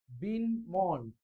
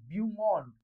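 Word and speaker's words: beau monde: मग इथं बिन नसतं, स्पेलिंग असतं BEAU, ब्यूमॉन्ड, MONDE, ब्यूमॉन्ड.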